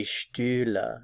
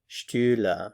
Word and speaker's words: Stühle: Die Stühle, die Stühle. Notice that there's an umlaut there, so that changes your pronunciation. Stuhl, Stühle, Stuhl, Stühle.